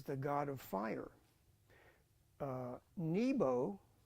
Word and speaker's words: Nebo: god of fire uh Nebo is really pronounced Neo with a v uh Neo Neo means